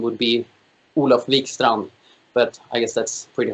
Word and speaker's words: Olof Wikstrand: whatever it's it's fine olaf wickstrom no it's good enough the d is silent it's a silent d okay yeah yeah more